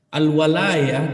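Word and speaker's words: الولاية: Al-walayah dengan di fathah, al-waw, wawunya di fathah bacanya.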